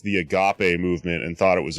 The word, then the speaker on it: agape: did get called right wing and also i mispronounced the agape movement and thought it was a group called the gape uh people whose logo is a fist which